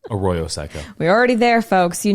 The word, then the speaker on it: Arroyo Seco: Arroyo Seco.